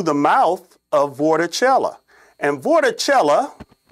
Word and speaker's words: vorticella: mouth of vorticella and vorticella yes it rhymes with coachella are the organisms that